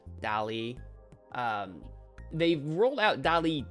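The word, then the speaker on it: DALL-E: am familiar with Dali I don't know if that's how you say it d-a-l-l hyphen e Dolly um they've rolled out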